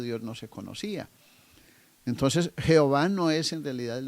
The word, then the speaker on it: Jehová: precisión en este nombre jehová es una combinación entre las dos palabras ya vistas entre jhv que es el terremoto una palabra impronunciable por cierto pues carece de vocales no se puede pronunciar pero con la toma de las vocales de adonay hay una combinación entre estas dos palabras y aparece entonces jehová o ya ve pero